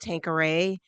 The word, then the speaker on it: Tanqueray: have to explain that this is my name is pronounced tankor um and that's the